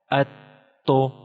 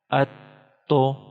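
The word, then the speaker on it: أَتُّ: This Ta is Tashdeed symbol, and Ta should be pronounced one time with Hamza and one time again. So it is just like Hamza Ta Zabar At. Ta pesh to. Atto. Atto.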